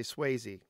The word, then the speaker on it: Swayze: So, and I am pronouncing it correctly to say Swayze.